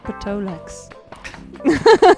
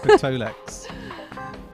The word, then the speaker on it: Tolex: With a silent P or just a T? I don't think there's any P's in it at all. Patolex. Tolex. Yeah, here we go.